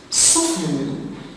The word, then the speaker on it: soften: Soften, the silent letter is the T after the F.